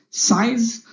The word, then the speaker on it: cise: discussed that means pain size c-i-s-e pronounced like size this means uh to